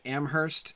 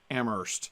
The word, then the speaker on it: Amherst: I say in Amherst but I keep saying Amherst and I know in Massachusetts they don't pronounce the age I grew up and Amherst